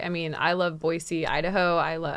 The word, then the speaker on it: Boise: I mean I love Boise Idaho I love I'm saying it right we know we know Boise yeah you get off the plane and it says boy see this there are so